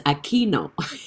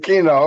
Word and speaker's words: Aquino: attend his life and he always mispronounced my name but i always wanted to have a chance to let him know it's aquino and this is my